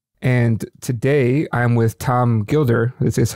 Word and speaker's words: Gilder: And today I'm with Tom Gilder.